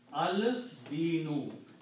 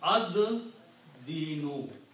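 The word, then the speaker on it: الدين: So this will become al dinu. Okay? And also in tajweed, when lam and dal come together, lam is not pronounced. Dal is pronounced twice. So it becomes ad dinu.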